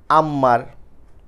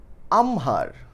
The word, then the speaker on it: আমহার: অনেকে আমরা বলি হচ্ছে আম্মার, হ্যাঁ, বা আক্ষার, এরকম টাইপের উচ্চারণ করার চেষ্টা করি। না, এরকম একটা উচ্চারণও হবে না। আমি এই উচ্চারণটা করে দিচ্ছি, আশা করি এরপর থেকে এই শব্দটার উচ্চারণ নিয়ে আর কারোর প্রবলেম হবে না। এই শব্দটার উচ্চারণ আমহার। হ্যাঁ, আমি আবারও বলছি, এই উচ্চারণ কি, আমহার, কারণ এটা হয় ম।